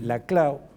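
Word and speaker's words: Laclau: Pero el kisnerismo primero a través de eh la clau, yo yo lo pronuncio así porque es un apellido catalán. Sí. Y eh siempre generan la tentación de pronunciarlo en francés.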